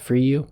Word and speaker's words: Fryou: my name is my last name's spelled f-r-y-o-u it's pronounced for you okay okay I was